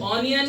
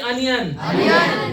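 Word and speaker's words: onion: आज के बाद ओ की जगह ओ नहीं बोला जाता, ओ को आ पढ़ा जाता है। जल्दी बोलो क्या पढ़ा जाता है? अच्छा बताओ, ओपिनियन की ओपिनियन, प्रोनाउंसिएशन की प्रोनाउंसिएशन, ऑनियन की अनियन।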